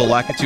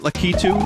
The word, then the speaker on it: Lakitu: crunch oh it's fine puh puh pronounces it lakitu and the Super Show well all right listen how do you go your whole life pronouncing something one way yeah but lakitu doesn't rhyme with slacker - so like I